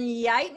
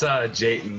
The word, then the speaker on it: Jayton: And Yighton, is that how you say it? It's Jayton.